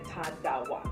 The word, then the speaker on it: Tarawa: Ta, and then like the R is like a D, so Tarawa. No. Yeah. Hi everyone, we're here today with Tarawa. Hi everyone, we're here today with Tarawa.